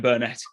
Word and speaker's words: Burnett: I think it's, some people pronounce it Ken Burnett. I don't know who's right and who's wrong, and I'm probably wrong. But this book changed my life. I'm from Yorkshire, Antonia. It's Ken Burnett, and that's it.